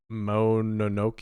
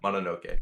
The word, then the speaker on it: Mononoke: Nate's number 3 seed, Princess Mononoke. Is that how you say it? Mononoke.